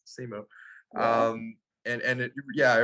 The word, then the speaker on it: Simu: yeah, Is it's that, just how it's spelled. It's Simu.